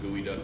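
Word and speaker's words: geoduck: mine was gooey duck developmental systems that is pronounced gooey duck for real even though even though spelled that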